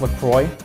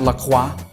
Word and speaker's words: LaCroix: And in case you're wondering, yes, it is pronounced LaCroix, not LaCroix.